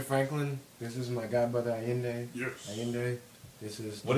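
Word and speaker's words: Ayinde: But it's, it sounds like it's I-Y-I-N-D-A-Y. But it's A-Y-I-N-D-E.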